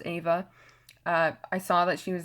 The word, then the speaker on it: Eva: I love Ava green it spelled like Eva but it's pronounced Ava I saw that she